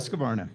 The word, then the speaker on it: Husqvarna: He was riding under the banner of Factory Husqvarna, if I pronounced that correctly. Husqvarna, yep.